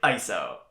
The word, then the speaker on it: ISO: And yes, I pronounce it eye-so. Eye-so, eye-es-oh, they're both acceptable, okay?